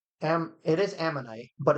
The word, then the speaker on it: ammonite: No, it's it's am it is ammonite, but it's like But it's that little